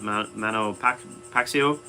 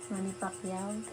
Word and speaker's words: Manny Pacquiao: Well, I don't know enough about boxing to say all time, but I do like Mano Pac Pacio. Did I say it right? Manny Pacquiao. Manny Pacquiao.